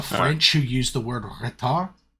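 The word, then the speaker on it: ritard: You pronounce it retard.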